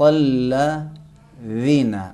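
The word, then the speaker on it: الذين: اور دوسرا حرف ذال، وہ بھی اسی انداز میں ہم تلفظ کریں گے. ذالک الکتاب صراط الذین. الذین آپ تلفظ کریں.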